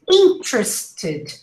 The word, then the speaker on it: interested: two schwas over there interested interested you see so you say in true this is how you pronounce it interested interested only the vowels the rest is a schwa average average average average